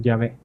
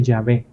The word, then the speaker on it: Yahvé: Y nosotros, por lo general, en nuestras traducciones ponemos Yahvé, que es Y-H-W-H, bueno, la W en realidad es una V, esta es una Bab, una V, solo que en el mundo anglosajón la W se pronuncia como V, ¿verdad?